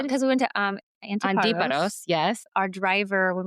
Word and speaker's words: Antiparos: Well, most people say Antiparos, but the Greek way is Antiparos because of the accent being on a different letter.